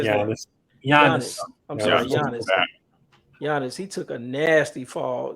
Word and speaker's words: Giannis: you say this guy's name The Greek Freak gionis how'd you say that yeah I'm sorry Giannis he took a nasty fall you know hurt